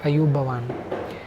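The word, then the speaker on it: ආයුබෝවන්: बोलने के लिए जो टर्म है वह है अयु भवान उसका स्पेलिंग होता है ए वाई यू बी ओवी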